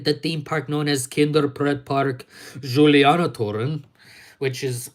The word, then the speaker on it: Kinderpretpark Julianatoren: And anyways, like I said, I'm not planning on being filmed within the theme park known as Kinderpretpark Julianatoren, which is how it's correctly pronounced.